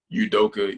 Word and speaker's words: Udoka: coach you wanna know give the official correct pronunciation of your name all say it one more time udoka you say all right coaches and so that's